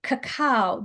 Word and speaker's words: cacao: So first of all, tell us how you say the word, because I've been mispronouncing this whole time. Say the Okay, word. so I'm going to say, okay, cacao.